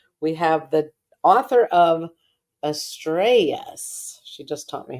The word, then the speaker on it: Estrellas: Estrellas. That's right. Is that better? Yeah. Okay, the two L's are like a Y. Just learned that. Estrellas.